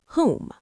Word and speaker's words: Hu: Om, Amin, Amen, Shalom, Hum. Let's look at the anatomy of the sound. Say Hu, pronounced like the English word who.